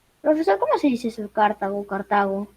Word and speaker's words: Cartago: Cartago. Si sería Cartago, sería una esdrújula, entonces llevaría tilde.